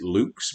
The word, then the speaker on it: lux: i mean public schools lux is the latin word for light i suppose we should pronounce it luke's but we're americans so we say lux the purpose of luck's